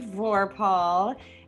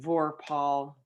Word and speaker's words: Vorpahl: I'm Vorpahl, and yes, that's how you say my name. I say it's double stressed, like whirlpool, how you give both. It's Vorpahl, both are kind of stressed, if that makes sense.